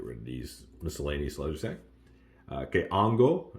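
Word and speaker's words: hongo: of these miscellaneously okay Ango again the H is silent okay Ango what's up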